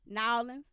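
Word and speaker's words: N'awlins: Miami, Los Angeles, Oakland, New Orleans, Nolens. Yeah, that's how you say it. There you go. Nolens, New York, Houston, Baltimore, and Washington, D.C.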